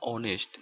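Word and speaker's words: honest: এরপর দেখুন অনেস্ট, এখানে এইচ এর উচ্চারণটা আসেনি, ওর উচ্চারণটা এসেছে, তো ওই জন্য দি বসেছে।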